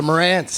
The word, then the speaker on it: Marantz: martinez uh the mar was how do you pronounce it i'm always uh the marantz marantz yeah yeah it's waiting for the coffee